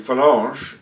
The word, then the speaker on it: Phalange: Well, firstly, the Phalange, as it's pronounced. Okay, yeah, sorry, I know my pronunciation of French, it's probably on par with your pronunciation of Italian words. Or Slovak. Phalange.